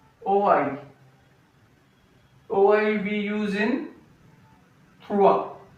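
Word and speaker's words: trois: We use in tha. T r o i s. S is silent.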